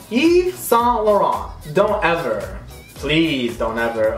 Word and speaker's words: Saint Laurent: you and I both know okay that is s lauron you know what I mean s Eve s lauron don't ever please don't ever uh that irks